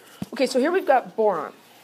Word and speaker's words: boron: Okay, so here we've got boron. Boron rhymes with moron.